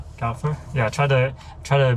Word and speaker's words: Kaufer: This is Kalur. Yes. Did I pronounce that right? That's right. Yeah. Calur.